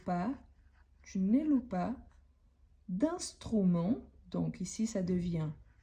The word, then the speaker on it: loup: prononciation plus l'animal lou l o u P ont la même prononciation car les e à la fin plus le P à la fin on ne les prononce pas donc tu loues un loup on pourrait dire ça